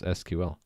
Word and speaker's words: SQL: So it's not an acronym, it's an initialism. You spell it out in its initials, SQL.